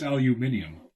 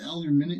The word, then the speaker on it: aluminium: I believe it's pronounced aluminium. Aluminium. No, it's not aluminum. It's aluminum.